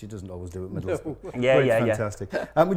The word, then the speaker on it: Middlesbrough: That br at the end. That's what and I can. We don't like borough. We don't like bruff and all this that the Southerners give us.